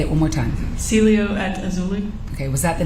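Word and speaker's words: Cielo at Azalea: the aelia how do you say it again Celio at auli say it one more time Celio at auli okay was that the name of the apartment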